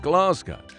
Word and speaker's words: Glasgow: Like, I would normally say Glasgow when talking about COP26 Glasgow. But the Glaswegians don't say that. They say Glasgow. So it would be appropriate for me to pronounce it the way that it is said locally. Glasgow.